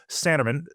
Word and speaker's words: Sanneman: So today, uh, I'm joined by Paul Sanerman. Am I pronouncing it correctly, Paul?